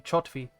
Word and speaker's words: Kjotvi: didn't know this, that the KJ should be actually the CH sound if it's kind of like typical Norwegian pronunciation. So it should actually be Chotvi.